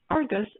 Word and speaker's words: Ai-RGUS: We pronounce Argus as Argus and keep the eye silent.